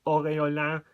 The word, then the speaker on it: aureolin: the left so 016 Orin or orola if you want to pronounce it the French way otherwise known as Cobalt